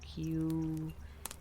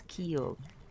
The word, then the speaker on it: Kyo: I always say it wrong, apparently. It comes out as Q. Kyo. It's pretty interesting. Sometimes it comes out as Kilo. God knows why. It's like, no, it's Kyo.